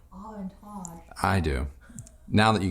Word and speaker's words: Aventage: You just like saying Aventage.